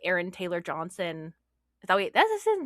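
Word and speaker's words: Aaron Taylor-Johnson: And I do think it's interesting that we don't have nearly as many examples outside of like Aaron Taylor Johnson.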